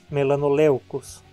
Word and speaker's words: melanoleucos: Vejamos o primeiro exemplo. EU é considerado um ditongo. Então, na separação silábica, a penúltima sílaba fica sendo leu. Tem ditongo e, portanto, é longa. A palavra é paroxítona, melanoleucos.